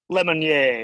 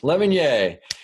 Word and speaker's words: Lemonnier: Is that how you say it? Lemonnier? Lemonnier. It's French. Lemonnier.